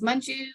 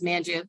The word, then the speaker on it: Manju: and you say um is Manju you know in class instead of saying uh is um man and then the teacher says Manju which is not how I pronounce my name yep yep she's here